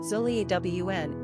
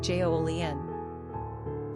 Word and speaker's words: Julien: The French form of Julien is Julien and pronounced zhoo-lee-AWN. English speakers pronounce it Jolien.